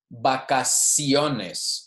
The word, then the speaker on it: vacaciones: Okay, after, if an I comes after the C, it's also going to be a soft C. Vacaciones. So that one actually has both.